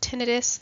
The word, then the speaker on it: tinnitus: nerve pathway for hearing tinnitus sometimes pronounced tinnitus this is ringing in